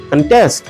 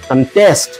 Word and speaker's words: contest: সেটার উপরে ডিপেন্ড করে যেরকম প্রথম শব্দটি হচ্ছে কন্টেস্ট এটা নাউন হলে হবে কন্টেস্ট ওয়ার এস ভার্ব হলে হবে কন্টেস্ট এখানে ভার্ব গুলোতে পরের শব্দগুলোর